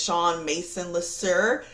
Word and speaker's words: Shawn LeSuer: My name is Shawn LeSuer. Yeah, that's how you say it, right?